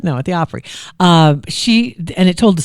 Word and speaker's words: Opry: at the Opry and that sounds like you're saying it wrong because we just said Oprah now you're saying Opry I don't sounds like you're saying 50 years at the Opry at the Oprah no at the Opry